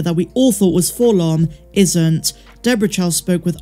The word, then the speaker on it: 4-LOM: it's pronounced full-on or 4-l-o-n and chal said it's actually full-on but then continues but